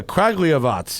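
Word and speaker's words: Kragujevac: all right do you know about the legendary cragiavoc okay exactly oh there you go yeah craglyavats yeah to kilimanjaro expedition with zastava 101s i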